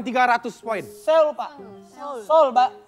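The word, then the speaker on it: Seoul: Sou soul S E o o U bacanya gimana?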